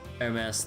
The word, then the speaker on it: Hermes: Hermes, the H is silent.